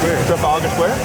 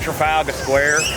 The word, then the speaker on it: Trafalgar Square: Trafalgar Square? Trafalgar. Yeah? I think so. Did I nail it? Yeah. Alright, well that's where we're at, Trafalgar Square. California. We're here at Trafalgar Square.